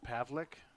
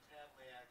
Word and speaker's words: Pavlik: Okay, so Dennis, the right fielder's name is actually just pronounced Pavlik, but your coach told you otherwise, so that's why we've said that. Yes. Pavlik. Their coach said Pavliak, and he checked with somebody else, and they confirmed.